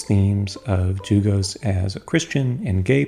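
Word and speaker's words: Dlugos: The L in his name, by the way, is silent.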